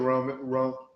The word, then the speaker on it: Rome: No, I think he was saying it's pronounced Rome.